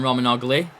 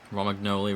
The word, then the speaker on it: Romagnoli: Morgan Gibbs-White on Roman Ogli. Romagnoli, rather. Been pronouncing his name wrong all game.